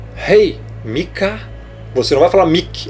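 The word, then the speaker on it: Micah: Em inglês, Mika. Você vai falar o Mi e o Kar, Mika, Miqueias.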